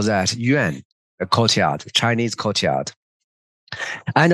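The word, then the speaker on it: 院: Those two words just pronounce the same in Chinese, Yuan, Yuan, but different tones.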